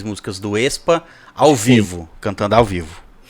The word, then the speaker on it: aespa: Se você não leu A, você fala Expa. Não leu lá, é esse mesmo. Não é como se escreve, você pega do E, Expa.